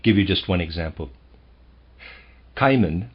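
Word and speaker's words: Cimon: you just one example caiman i'm going to pronounce that caiman c-i-m-o-n a well-known historical figure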